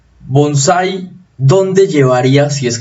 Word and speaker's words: bonsái: tilde tendríamos que pronunciar bonsai y la pronunciación es bonsai el bonsái ahora con tilde o sin tilde